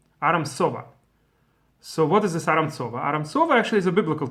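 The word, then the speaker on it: ארם צובה: from Aram or how they pronounce SOA they pronounce as a kind of strong s Aram SOA so what is this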